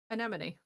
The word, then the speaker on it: anemone: Anemone. Thank you. Enemy to me.